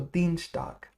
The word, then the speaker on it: Dienstag: Montag, i.e., will we call it Dienstags or Dienstag? Now, i.e., if you might remember, makes e, so it's Dienstag.